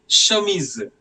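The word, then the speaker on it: chemise: now um next one shamis the word shamis means as you No C and H together will be pronounced as sh.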